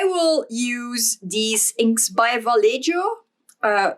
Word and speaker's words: Vallejo: use these inks by Vallejo uh I think it might be pronounced Vallejo in Spanish but I'm not sure please don't come at